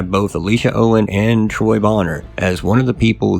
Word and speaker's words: Boner: And I say Bonner, it's it's spelled Boner. And I've seen interviews where he says Boner, but I didn't think